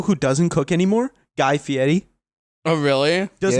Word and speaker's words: Fieri: doesn't cook anymore guy fieri oh really does not cook anymore that's how you pronounce that because yeah it's not fiery no that is dude